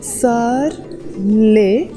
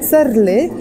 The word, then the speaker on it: صار لي: Okay, so the way I'm saying it is صار لي. It's one word, but it comes from صار إلي. صار means it happened. إلي means for me. When I say صار إلي, which I pronounce as صار لي, it doesn't mean it happened to me.